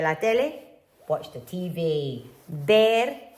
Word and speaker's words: ver: Ver, remember this one is like a b.